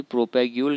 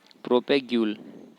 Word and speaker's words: propagule: ये संरचनाएं कायिक प्रवर्ध यानी कि प्रोपैग्यूल कहलाती हैं।